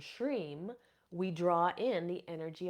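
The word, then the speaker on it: shrim: obstacles from your path another seed sound is sham and it is U spelled s HR e m or or s h r i m depending on um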